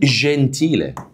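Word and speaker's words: gentile: تعالوا نشوفهم مع بعض اول واحده قال لك اذا جاء جاء جاء بعده لو جاء ايه بعده حرف الاي او الايده نفس الكلام اه شبه اللي فاته ينطق يتنطق ايه بقى يتنطق جي يتنطق ايه جي زي مثلا كلمه جنتيلا جنتيلا اهي جنتيل دي صفه طبعا معناها مهذب بص قلنا ايه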